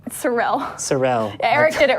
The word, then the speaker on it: Sorrell: my last name o also pronounce it correctly god Cyril Cyril Cyril Erik did it wrong - at the